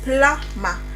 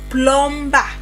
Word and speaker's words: plumber: So, it is pla ma not plomber not plomber or plomber It is pla plumber.